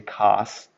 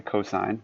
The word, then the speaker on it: cosine: Don't say cos. Say cosine.